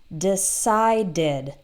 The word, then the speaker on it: decided: started has two syllables or decide ends in D that has two syllables and then past decide did decided so if you look